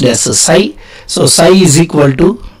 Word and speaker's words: psi: So flux linkage or psi, it is pronounced as psi.